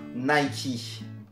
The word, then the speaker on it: Nike: exemple le fait que le créateur de la marque et préciser qu'on prononce bien nay qui concernant ce sujet je